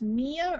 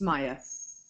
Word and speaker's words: Maya: quickly are you do is your name pronounced Mia or Maya it's Maya Maya okay yeah um you